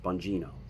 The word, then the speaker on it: Bongino: your name um but i believe it's pronounced bongino okay there's a guy named